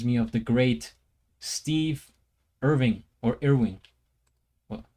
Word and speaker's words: Irwin: this face reminds me of the great Steve Irving, or Irwing. Well, how do you pronounce it again? The Crocodile Hunter. May he rest in peace. Steve Irwin.